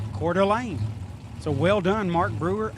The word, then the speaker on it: Coeur d'Alene: Just got a voice message from Chris Northup, and he said it's pronounced Coeur d'Alene.